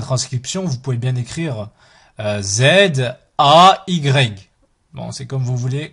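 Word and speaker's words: زاي: Ensuite, Zay, Zay, Zay, comme Zay, Zaytoun, Zaytoun. Là aussi, au niveau de la transcription, vous pouvez bien écrire Z, A, Y.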